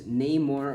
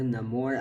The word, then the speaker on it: Namor: So the first minifigure we have up here is Namor or Namor. I don't really know. They pronounce it 2 different ways in the movie.